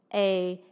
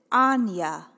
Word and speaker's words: Anja: I will be out and meet someone who's also named A-N-J-A, but they pronounce it Anya, never Anja like me.